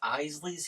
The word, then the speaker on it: Iseli: Isley's here. How do you say your last name? Isley. Like the Isley brothers, man.